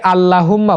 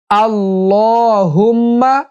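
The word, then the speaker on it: اللهم: সাথে সকলেই পড়বেন আল্লাহুম্মা অনেকে আল্লাহুম্মা বলে এটা ভুল উচ্চারণ আল্লাহুম্মা সঠিক উচ্চারণ আল্লাহুম্মা আল্লাহুম্মা আল্লাহুম্মা আজিরনি মিনান্নার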